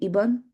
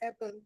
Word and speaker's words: Eban: Am I am I pronouncing your name correctly? Iburn. It's Eban, but it's okay.